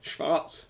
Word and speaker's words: Schwarz: It's Schwarz, by the way. Schwarz, not Schwartz. It's a V Schwarz. rather than a W.